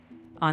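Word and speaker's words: を: So, I shouldn't actually be pronouncing the W sound in O. I should always just say or, not or. Exactly. Right. You can drop the W sound. It's pronounced simply as O.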